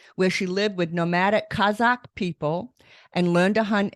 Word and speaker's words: Kazakh: such amazing work Lauren did I pronounce Kazakh properly you did that was perfect I'm I'm thrilled I'm